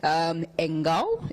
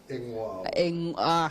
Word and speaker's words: Engwao: So I had to split and say, and then Ngao. So Engao, is that how it's said? No, my name is Engwao.